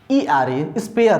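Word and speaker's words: sphere: यहाँ पर स्टार्ट हुआ एफ से यानी फ का साउंड, लेकिन स्पेलिंग देखिए यहाँ पर SPHER स्पेयर है, लेकिन फ का जो साउंड है वो निकल रहा है, स्पेयर होता है।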